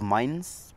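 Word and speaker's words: Mainz: I have mines people people call it Mains but it's called mines it depends with where you come from those it doesn't depend where you come from there's a name you need to pronounce it correctly then uh taking on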